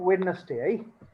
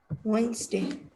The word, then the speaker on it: Wednesday: is gonna pronounce it yeah how do you pronounce this word anyway it's not weirdness day wednesday very good sounds good right i'll see you